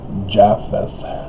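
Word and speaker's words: Japheth: children of uh yahweh we have the corrupted latin european and so we pronounce it jaffeth and uh that's ukraine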